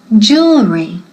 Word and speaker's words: jewelry: Aquí, primero, ojo, la pronunciación, jewelry, jewelry, dilo conmigo, jewelry, es la J inglesa, como Jennifer, repeat, Jennifer, jewelry, ¿ok?